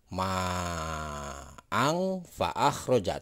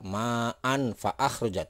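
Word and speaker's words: مَاءً فَأَخْرَجَ: Jadi cara membacanya yang ini adalah ma'ang fa'akhroja, tidak ma'an fa'akhroja, tidak seperti itu ya. Kenapa disebut dibacanya dengan ma'ang fa'akhroja? Ada bunyi eng.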